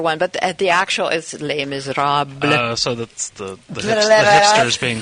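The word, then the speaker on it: Les Misérables: Mis is the most popular one, but the actual is Les Miserables. So that's the hipsters being cool. Okay, gotcha. Yes, I love when somebody can pronounce it correctly.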